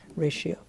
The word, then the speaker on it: ratio: in english for pronunciation tio the t sounds like an sh ratio and this word ratio